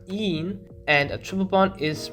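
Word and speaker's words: -ene: So a double bond is written as ene, en, pronounced een, and a triple bond is written as ein, yn, pronounced ein.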